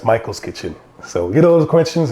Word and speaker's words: Maicol's Kitchen: questions about michael and where we got the m-a-i-c-o-l that's how my mother used to spell it and my my father spells it m-i-c-h-a-e-l but that's why it's michael's kitchen so get all those